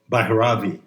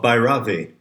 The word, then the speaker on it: Bhairavi: Let's return to the current shift of Bhairavi. I believe the correct pronunciation puts the accent on the first syllable. So what are the themes? What are the lessons? What are the moods of Bhairavi?